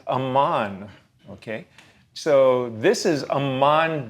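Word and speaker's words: Amman: If you pronounce the vowels just a little bit differently, you come up with it as Aman.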